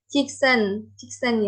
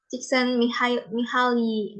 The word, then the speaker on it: Csikszentmihalyi: Nah, definisi dari flow itu sendiri, yang punya teori ini adalah namanya itu, saya juga susah nih nyebutnya, gimana cara bacanya. Csikszentmihalyi ya. Csikszentmihalyi.